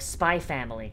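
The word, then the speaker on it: SPY×FAMILY: be that's bye like spy family the ex is silent apparently which is weird like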